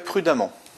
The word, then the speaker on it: prudemment: Cinquième exemple, il conduit toujours très prudemment. Prudemment. On prononce amant, donc on a une terminaison en deux M.